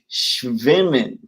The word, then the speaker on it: schwimmen: Let's see, but it's pronounced more like schwimmen.